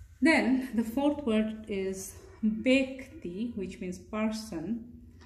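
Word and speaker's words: ব্যক্তি: So sometimes this is a confusing sign in Bangla, this one, this wave. Sometimes it can be pronounced as a, not ya though, it's like a as in hat, a sound as in hat, right? So it can be pronounced as like that, but here it is pronounced as a. So this is a, like bed. Sometimes this sound can be pronounced as a, as in bed.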